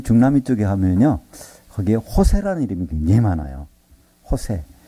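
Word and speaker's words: José: 거기에 호세라는 이름이 굉장히 많아요. 호세. 이 호세라는 이름을 이렇게 쓰고 있고 호세라고 읽는데 그 Z 발음은 호타라고 해서 H로 읽는데 호세가 굉장히 많습니다.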